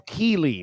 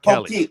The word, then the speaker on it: Keeley: I'm just, it's Cole Keeley, not Kelly.